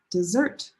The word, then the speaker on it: dessert: The stress is on the first syllable and dessert.